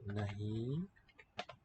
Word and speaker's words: नहीं: Nahi. And that's nasalized.